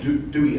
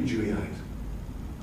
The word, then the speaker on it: dewy: um moist eyes okay in this country you would say dewy eyes in england it's pronounced jew so i said these monsters they look really juice meaning moist this guy